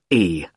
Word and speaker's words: Carlisle: It's Carlisle. You don't pronounce the S.